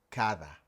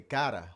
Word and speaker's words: cada: todo todo So, the Spanish word for each is cada. cada Again, if you pronounce it like the D we have in English, you'll say cara, which means face.